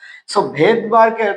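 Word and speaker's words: Svedberg: ভেদবারকের নামের বানানটা দেখি তাহলে এসভিডি বি আর এই ভেদবার যদিও উচ্চারণটা কিন্তু এস হয় না।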